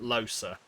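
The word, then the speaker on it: Lohse: I'm Hi, Los. Losa. Oh, sorry, I forgot they pronounce it Losa.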